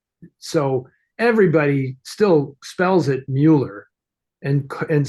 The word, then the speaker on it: Muller: hi this is Mueller I'm you know blah blah blah people still obsessively pronounce it and and I get